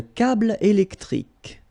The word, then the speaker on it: câble électrique: Un câble électrique. Final here and here are not pronounced.